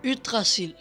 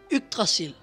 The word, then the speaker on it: Yggdrasil: Yggdrasil, or as my Danish son who can actually pronounce it calls it, Yggdrasil. In Norwegian, Yggdrasil.